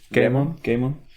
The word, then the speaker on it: Goemon: Goemon.